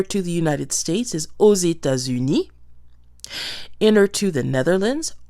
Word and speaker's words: aux États-Unis: So we are going to hear the pronunciation of the X at the end of O. It's going to sound like a Z. Aux États-Unis.